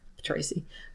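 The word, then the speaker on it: Ptraci: plot stuff, is that there's Tracy, spelled with a P. Tracy. Because in the Greek, they just say Ptu.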